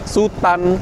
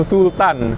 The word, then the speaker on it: Sutan: bagian sini ada stiker Sutan class nah jangan keliru ya Ini bacanya Sutan bukan Sultan jadi Sutan ini berasal